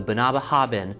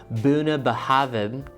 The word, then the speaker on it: Bunnahabhain: of this enchanting izl pronounced buna behavin buna the haben oh you guys I'm so sorry I was saying it wrong so it's actually buna behavin now as you guys